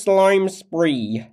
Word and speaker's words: Slime Spree: yeah my name is slime spree oh it rhymes with crime spree and that's what the